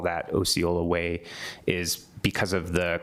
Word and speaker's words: Osceola: Thank you for the correction of the pronunciation to Osceola.